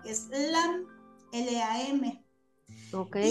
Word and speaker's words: LAM: equilibrio en nuestro chakra, pronunciándola así como cuando los yoguis hacen OM, que pertenece a otro chakra, esa sílaba. En el chakra 1 es LAM.